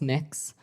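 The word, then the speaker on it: Mx.: It's pronounced mix.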